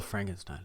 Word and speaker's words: Frankenstein: frankenstein is spelled f-r-a-n-k-e-n-s-t-e-i-n it's a german word so stein the i the second if it's i e or e i the second letter is the one that's enunciated so with it's german